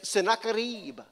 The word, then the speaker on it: Sennacherib: a guy by the name of, get this, Sennacherib.